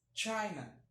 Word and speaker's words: China: Então, em inglês, China. China. Como se você fosse dar um tchau, né? Tchau, é o mesmo tchau.